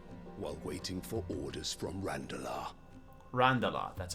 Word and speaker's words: Randalar: Republican soldiers starve while waiting for orders from Randalar. Randala, that's how you pronounce it.